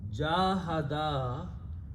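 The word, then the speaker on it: جاهدا: Jahada, you have to make sure that you pronounce the alif, otherwise the meaning will be incorrect.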